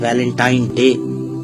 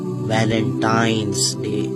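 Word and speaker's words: Valentine's Day: है अब आप इस वैलेंटाइन डे के नाम पर गौर करें इसे जो आम कहा जाता है यह वैलेंटाइन डे है लेकिन हकीकत में जो इसका प्रोनाउंस एशन है वह है वैलेंटाइंस डे य वैलेंटाइन वाला दिन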